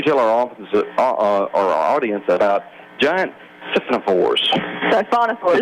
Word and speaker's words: Siphonophores: What can you tell our audience about giant Siphonophores. Siphonophores. Siphonophores, that's right. Yeah. It's a Greek word.